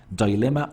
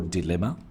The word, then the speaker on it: dilemma: almost almost assign meaning dilemma or dilemma remember the two pronunciation it means difficulty sometimes